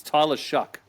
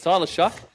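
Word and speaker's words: Tyler Shough: I found the pronunciation too this week, Brad. It's Tyler Shuck.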